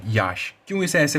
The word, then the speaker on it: Yaas: कई लोग इसे साइक्लोन यास बुला रहे हैं बट इट is actually pronounced एज cyclone याश।